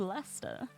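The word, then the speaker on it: Leicester: This is pronounced Lester.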